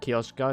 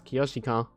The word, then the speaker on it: Kyoshika: It's Kioshika. It's not Kioska. It's Kyoshika. My bad.